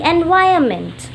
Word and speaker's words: environment: Chapter name is The Role of the Environment. Now first of all we will learn about how to pronounce environment because over here N is silent.